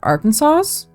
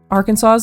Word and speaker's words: Arkansas: go with one from Arkansas's Arkansas's Arkansas why did I say it like that I don't know why I said it like AR Kansas I'll go with one